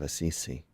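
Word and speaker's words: Assisi: okay then yes yeah here they don't say aisi and in Spanish AIS they take off the last syllable San Francisco AIS we say St Francis of aisi and the name of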